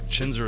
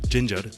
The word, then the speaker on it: Chhinzer: So Chhinzer is how we pronounce it. That's how I've only known it. But he said if you pronounce it Ginger, Okay. Punjabi, Yes. it kind of gets translated back to wrestler.